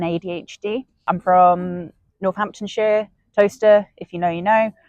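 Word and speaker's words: Towcester: But because our place names are weird and they're ancient, it's pronounced toaster.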